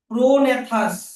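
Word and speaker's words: prognathous: অস্ট্রালোপিথিকাস হ্যা হ্যাড এ প্রোনেথাস এখানে জি এর উচ্চারণটা সাইলেন্ট থাকবে প্রনেথাস ফেস মানে বানরের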